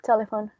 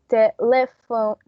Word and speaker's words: telephone: And how many syllables does the word telephone have? Four. Four. No, three. Three. So the accent, the stress in this one, it's exactly in the first one.